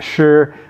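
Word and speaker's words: 豕: Now this character here, which is in modern Chinese is pronounced shi, but we usually call it zhu.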